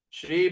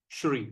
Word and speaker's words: Shri: Shri Bhagavan Uvacha. Now Krishna is speaking. Shri Bhagavan Uvacha. See the word S at the apostrophe. How are we going to pronounce? Shri.